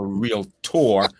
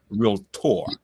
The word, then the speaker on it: realtor: Not like a real tour. Realtor. But there's no in the middle.